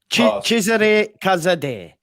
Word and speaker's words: Cesare Casadei: Cesare Casadei. Casadei. So him though, for example. You want to give him a try? No, well, Cesare Casadei.